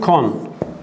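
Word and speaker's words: کن: Muzaresi kon. Kün diye yazılır, kon diye okunur.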